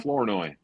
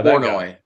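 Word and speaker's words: Flournoy: Florenoi. Yeah. Florenoi.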